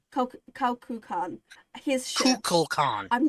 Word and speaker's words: Kukulkan: How are we pronouncing this so I can get it right? Kukulkan. Kukulkan.